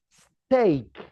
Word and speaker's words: steak: The pronunciation is steak.